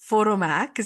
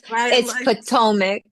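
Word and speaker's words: Potomac: She featured on Bravo, The Real Housewives of Photomac. You didn't mention it's PTOIC. Yes, it's PTOIC and that's okay. Many people Yes, PTOIC.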